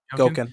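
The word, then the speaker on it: Gouken: Is that how you pronounce his name? Gauken? Yeah. Gauken, yeah.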